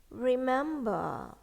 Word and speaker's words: remember: In British, here, R in here is silent. It is kind of silent. Remember. Remember. But in American, okay, remember. But not remember. No, remember. Okay? R in here is soft when you pronounce it.